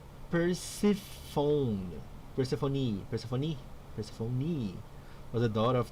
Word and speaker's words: Persephone: Through Persephone, pronounced Persephone.